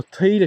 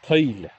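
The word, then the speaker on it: taoide: So Taile, T-A-O-I-D-E. That's how it's spelled. But we say Taile, Taile. Almost like Nelly.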